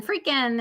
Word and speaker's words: Friedkin: Friedkin in the sheets.